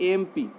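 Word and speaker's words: MP: जैसे एम पी, ए sound आ रहा है ना, ए साउंड आपका वॉवेल साउंड है तो क्या लगेगा, एन।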